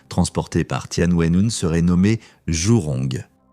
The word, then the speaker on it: Zhurong: par Tianwen-1, serait nommé Zhurong. Dans la tradition de traduction russe, cela peut se prononcer comme Zhuzhun.